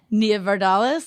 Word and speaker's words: Nia Vardalos: And fun fact, I think we just saw Nia Vardalos, that's how you say it, at Alex Edelman's show.